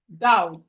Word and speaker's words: doubt: The K in doubt is, sorry, the B in doubt is silent. The B here is silent. So when we are pronouncing it, we are not supposed to say the B.